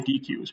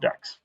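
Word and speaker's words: deque: I always want to say DQs, but they say it's pronounced decks.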